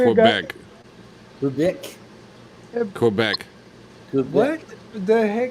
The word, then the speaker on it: Quebec: Just in case Canadians watch and want to yell at me, Quebec. Quebec. Quebec. Quebec. You hear that, America? We've been pronouncing it wrong all our life.